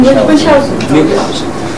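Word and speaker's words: Münchhausen: How do you pronounce it in German? Munchausen.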